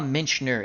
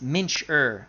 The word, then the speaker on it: Mincher: from perranoski to mnsure I always call a mention er it's Mincher I don't know why